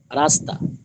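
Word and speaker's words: راستہ: উচ্চারণ হবে না এমনভাবে রাস্তা এখানেও রাস্তার ক্ষেত্রে ওরকম মানে বাংলায় রকার দন্ত দন্তস আকার রাস্তা তবে উর্দু লেখার ক্ষেত্রে হা লিখতে হবে তবে উচ্চারণে হবে না রাস্তা রাস্তা রাস্তা হা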